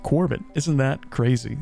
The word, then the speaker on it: Quarbit: logo once in the book itself and that's pronounced Corbin isn't that crazy it's the same as always